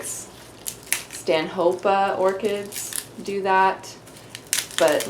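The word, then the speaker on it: Stanhopea: though it looks like Stan hopia it's supposed to be pronounced Stan hopa because that's his name goodbye okay so gosh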